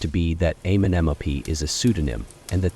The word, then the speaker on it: Amenemope: Since final N had already disappeared in the spoken language by this time, Amenemope would have been pronounced without it, even though the orthography remained unchanged. There is also considerable evidence that the internal nasals were assimilated, so that the name would have been pronounced more like Amenemopo or Amenepi than Amenemope. The name means Amun in